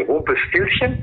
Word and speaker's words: Rumpelstilzchen: Et puis, ça m'amuse de faire entendre à ceux qui nous écoutent qu'on dit Rumpelstilzchen et que, waouh, c'est vachement bien prononcé.